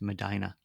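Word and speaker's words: Medina: In the same way that the nearby town of of of of me d i n a is pronounced Madina.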